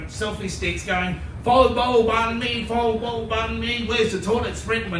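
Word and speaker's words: bánh mì: But you know, it's not pronounced banh mi. You know that. A lot of people say, it's pronounced banh mi. Can you hear the difference?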